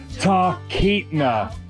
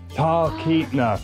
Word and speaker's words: Talkeetna: Talkeetna. Talkeetna. So it's like a silent L. Talkeetna.